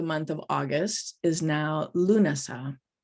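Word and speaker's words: Lúnasa: of august is now lunasah spelled slightly differently but pronounced the same in ireland this is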